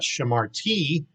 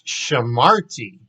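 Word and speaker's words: שמרתי: So we're going to go up here and go to the first one, shamarti. So notice the accent, it's not shamarti, it's shamarti, shamarti.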